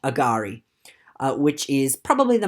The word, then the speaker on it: agari: it is not pronounced agari uh which is probably the most common uh pronunciation uh heard throughout australia and it's just a simple change of the accent in the middle of the word instead of saying agari